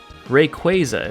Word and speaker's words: Rayquaza: Rayquaza is actually how you pronounce its name, which, yeah, I know it's based on the word quasar, so that makes sense, but you know what?